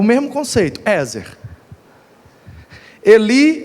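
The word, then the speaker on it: עזר: A palavra hebraica aqui é Ezer. Ezer. No hebraico a pronúncia seria algo parecido com Eshre.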